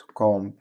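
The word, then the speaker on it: comb: بي حرف البي بيقوللك عندنا حرف البي نادرا ما يستخدم بعد حرف البي بعد حرف الام قصدي يعني لما يجي ام في الاخر البي في الاخر وقبلها ام غالبا البي مش بتنطق زي الكلمات دي اصبع الابهام صام صم خروف لام اتصل كلايم مشط كومب سباك بلامر طبعا البي ما تقلعش نفس الكلام سايلنت اللي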